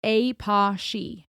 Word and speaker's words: Apashe: Pronounced Apashe.